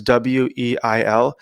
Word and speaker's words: Simone Weil: I'm not sure if it's pronounced Weil or Veil, but it's Weil.